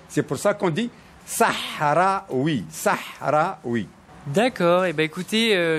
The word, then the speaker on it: Sahraoui: saraoui alors c'est ça parce que nous on prononce le ha donc on dit sahraou Sahra oui et alors même pour